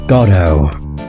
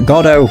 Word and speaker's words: Godot: His name is Godot. I think that's how you say his name. It's either Godot, Godot, or Godot.